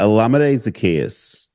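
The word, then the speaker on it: Olamide Zaccheaus: his name alade alade is that how it's pronounced yeah alade zakus is how it is pronounced a wild name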